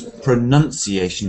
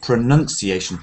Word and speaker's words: pronunciation: Some people don't pronounce pronunciation properly. They say pronunciation, but it's pronounce is a verb, pronounce, and the noun is pronunciation, and this is southern.